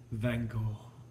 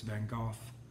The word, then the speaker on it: Van Gogh: cool you'll be okay vengal or if we pronounce it the way the british do it's van gogh okay so we're not